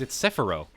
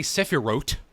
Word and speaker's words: Sephirot: It's Sephiro. How else would you pronounce that? Yeah, you don't say Sephirot. The T in Hebrew transliteration is silent.